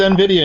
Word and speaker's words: NVIDIA: NVIDIA, how do you pronounce it, Alan? I believe it's NVIDIA, and you decided to go with that one.